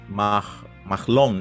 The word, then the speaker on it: Mahlon: Mahalon. Let's just say Mahalon, because in English you would pronounce the H, right? Mahlon, maybe. Mahlon. That sounds probably more like the way it should be.